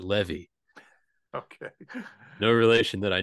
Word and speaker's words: Levy: Well, let me tell you, I pronounce it Levy.